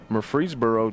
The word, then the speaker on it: Murfreesboro: this one all right more free Murfreesboro Tennessee that's exactly how you pronounce it if they got